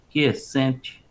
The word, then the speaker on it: quiescente: questão da pronúncia é quiescente, quies- Quiescente, quiescente, é a ok, busca pela quiescência.